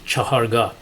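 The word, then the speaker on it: Chahargah: place or fourth position in farsi this is pronounced chaharga in persian music we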